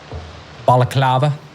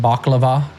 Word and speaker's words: Balaclava: Balaclava. Or as I used to mispronounce it, baklava.